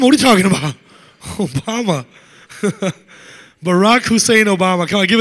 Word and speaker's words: Barack: Not because he's black, because his first name is Barack. It rhymes with Iraq.